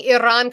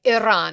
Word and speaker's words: Iran: I can't even can't even talk about uh try pronouncing Iran correct. Why you are not Persian? I'm not Persian, but it is a Persian word. So, I said it like Iran.